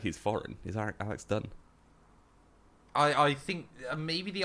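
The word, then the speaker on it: Dunne: How are we meant to pronounce his name? Is it Alex Dunn? Yeah, but people keep saying Dune.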